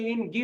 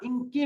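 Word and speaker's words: 인기: অর্থ মহিলাদের কাছে ইনকিগা ইনকি এটার উচ্চারণ কিন্তু ইনগি বলে না ইনকি বলবেন ইনকিগা মানায় কেন মহিলাদের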